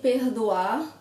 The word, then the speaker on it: perdoar: of the same perdoar, the sound of the R, it varies in Brazil. This is just how I pronounce, but in other parts of the country it's a harder R, more rolled.